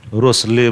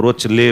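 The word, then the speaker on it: Rochelle: जैसे करना होगा कीजिएगा रोसले बोलो रोच ले बोलो जैसे बोलना बो याद रख लेना उसका स्पेलिंग के साथ आर ओ सी एच E double L ई ठीक है रोसेस साल्ट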